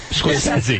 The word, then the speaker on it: Scorsese: I love Matin Scorsese is, or however you pronounce his name. Scorsese.